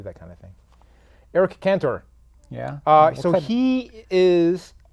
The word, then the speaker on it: Cantor: am I saying it wrong yes I'm saying canor yes you are it's not it'ser so it's like an e because it's spelled c o c a n you don't